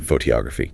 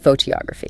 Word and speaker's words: photography: Where does the stress go in photography? On the to photography. Bingo. Second syllable. Now if you said phoggraphy or photography sounds weird unnatural totally and this